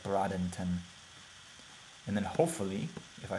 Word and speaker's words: Bradenton: was Bray den ton Bradenton brought actually pronounced like Bradington and then hopefully if